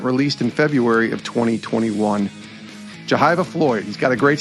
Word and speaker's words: Jehyve: And then when I asked you before we started recording, you said it was Jehyve. And I said, well, that sounds a lot like Jehovah.